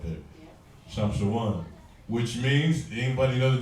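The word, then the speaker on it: שמשון: In Hebrew, it's Shamshawan. Right? Shamshawan. Like Brother San Antonio, that's my guy right there. Shamshawan.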